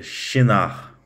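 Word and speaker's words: Shinar: esse pequeno problema então em hebraico se pronuncia chinar tá ela ficava localizada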